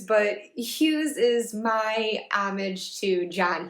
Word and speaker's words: Hughes: Hughes, obviously it's rhyming with Dews, but Hughes is my homage to